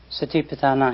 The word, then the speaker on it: Satipatthana: ါ တ ယ ် Satipatthana has 3 syllables, sati, pa and thana.